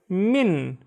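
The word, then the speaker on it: مِن: next one one syllable it's Min and Min means from next one looks very very similar but it has a f rather than a here it's men men and men means who let's read some sentences so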